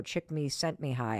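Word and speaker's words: Csikszentmihalyi: at University of Chicago chick me sent me high I think is how you say his name and activation energy is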